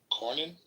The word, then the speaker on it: Cornyn: counsel to Senator John Cornyn. Yeah, Cornyn's the right way to say that.